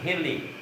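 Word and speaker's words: حِلّ: Bukan hali, hili. Ala wajhil hili, atas jalan halal. Ala wajhil hili, bukan hali.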